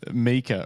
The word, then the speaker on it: Mika: Matt's confirmed Mika rhymes with sneaker.